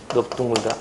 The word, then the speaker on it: 넓둥글다: 근데 예외가 있는데요. 넓적하다 넓죽하다 넓둥글다 이럴 때는 또 예외입니다. 이럴 때는 특이하게 넙으로 발음해요.